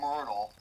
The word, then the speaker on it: Myrtle: blart once this guy named myrtle rhymes with turtle you know oh yeah